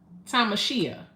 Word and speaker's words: Tamashia: Is it Tamashia or Tamishia? I want to make sure I'm saying it right, because I'm big on making sure, you know. Sucker free. Tell your mama order a dick because I know she want to eat one. How about that? So Tamashia. I said it right?